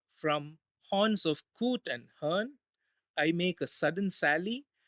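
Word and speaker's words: hern: filled with coot and Hearn here hn stands for the bird called Heron but since Heron can be if if it is heron the the poem will not rhyme with with the word fern so in order to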